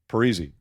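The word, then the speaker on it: Parise: call him pares and I said Zack how do you say your name perzy I went to JP it said how do you say your name perzy it's always easy if you just say perzy and I was like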